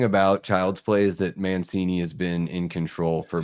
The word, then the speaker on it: Mancini: Yeah, Don Mancini.